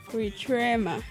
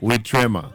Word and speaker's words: Witrema: And we also have Witrema. I hope I'm pronouncing your name properly. How are you? I'm fine, thank Okay, you. How are you? just to confirm, how's your name pronounced? Witrema. Witrema. Yes.